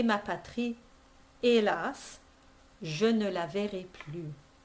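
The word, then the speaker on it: hélas: yes the h it's you don't say helas that's a silent h but it's a glottal e patri elas je ne la vere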